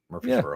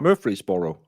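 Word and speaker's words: Murphysboro: How do you pronounce Murphreey's borrow? Just like that. Murphy'sboro. Murphy'sboro. You said it right.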